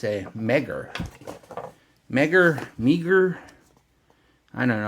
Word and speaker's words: MEGIR: but no it's a mega Mega meager I don't know I'm gonna say mega because I think meager makes it sound like it's meager so a lot of